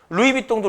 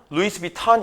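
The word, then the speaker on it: Louis Vuitton: 폭스바겐이라고 읽어. 아니 근데 이게이 나라에서 폭스바겐이니까 우리는 폭스바겐을 읽어 줘야 되잖아. 루이비똥도 루이부동이라고 우린 하잖아. 프랑스에서 루이비똥이라고 하니까. 그지? 근데 미국에서는 루이스비 탄이 이렇게 부른대.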